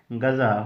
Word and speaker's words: غذا: غذا نہیں پڑھنا ہے، اس کو صحیح تلفظ کے ساتھ آپ نے کیا پڑھنا ہے؟ غذا۔ غین پر آپ نے زبر دینا ہے۔ غذا، غذا یعنی کھانا،